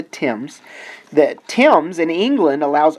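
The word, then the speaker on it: Thames: the Tims in England it looks like the themes but it is not it is the Tims the Tims in England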